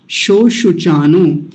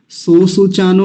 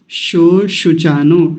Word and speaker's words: शोशुचानो: चानो शो शु चानो उन लोगों के लिए स्पेशली कह रहा हूं जिनको य तालव्य सकार का उच्चारण करने में बाधा होती है तो यहां ध्यान से करिएगा दोनों जगह तालव्य सकार है शो सु चानो सो सु चानो नहीं शो शु चानो श शलम वाला श वो वाला दोनों जगह